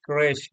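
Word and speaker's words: crèche: Option A है क्रेश, जो इसका प्रोनाउंसिएशन है CRECHE।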